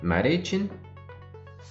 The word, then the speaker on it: Marichin: No, we don't say E in Japanese, so I is E, so Marichin.